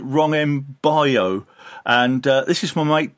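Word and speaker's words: Wrong 'Em Boyo: They called it Wrong Way Boyo, or Wrong and Boyo. This is the original from a ska band called The Rulers, and they pronounce it Wrong M Boyo.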